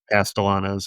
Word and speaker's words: Castellanos: Castellanos. Yeah, Castellanos.